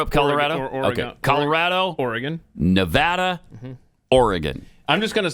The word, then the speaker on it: Nevada: drives pet nuts what whenever I say Nevada yeah instead of Nevada it does bug me